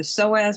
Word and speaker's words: psoas: you knowing either the psoas muscles and iliacus or iliopsoas the p is silent if you take a